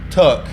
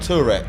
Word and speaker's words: Turk: Very accomplished skidder on the Monky London Assetto server, driving a beautiful GT86, owned by Ryan Turk, not Turek. Yeah.